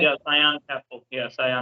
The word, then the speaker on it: Scion: Am I pronouncing it right? yeah, Cyan Capital.